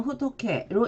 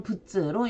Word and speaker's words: 仏: 자, 부처라는 뜻일 때는 호토케로 읽어주고 불로 발음을 할 때는 일본어로는 부츠로 읽어줍니다.